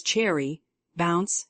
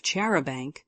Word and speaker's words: charabanc: borrow Mister Lauren is Cherry bounce Hannah's pronunciation of chaban all of this will